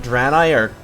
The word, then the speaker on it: Draenei: Also, it's spelled D-R-A-E-N-E-I. Draenei.